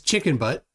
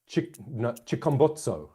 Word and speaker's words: Chikumbotso: So, wait, did you say that his name is Chicken Butt? Chikumbotso, I believe, is the correct pronunciation.